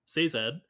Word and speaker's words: Sazed: I always pronounce his name wrong because I Say just read Zed. it. Sazed, Crisis of Faith, Mm-hmm.